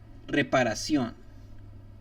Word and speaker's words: reparación: Whenever you start to see the word sion, or like the syllable sion, S-I-O-N, I-O-N, C-I-O-N, they're most definitely going to be, or guaranteed, accent mark on the O at that very last word.